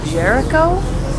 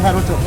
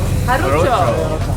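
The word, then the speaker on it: Jarocho: Disculpe, ¿cómo se dice Café Jericho? ¿Cómo se llama este? Café Jarucho. Jarucho. Gracias. Totally butchered that.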